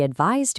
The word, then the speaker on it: advise: Advice ends like ice. Advise ends like eyes. Ice and eyes advice and advise.